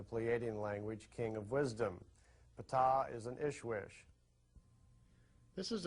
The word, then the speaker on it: Ptah: That's pronounced Ptah.